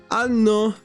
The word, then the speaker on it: anno: And this other word, one is pronounced anno, and the other one ano.